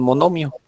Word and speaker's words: monomio: Entonces vamos a la siguiente y ponemos ahí como definición monomio. No recuerdo dónde lleva el acento ahí. Pues aquí lo ponemos. Expresión Acento en la I, monomio.